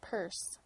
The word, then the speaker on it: Pearce: Pierce at that time they spelled their name p a r CE e and pronounced it purse John Pierce and his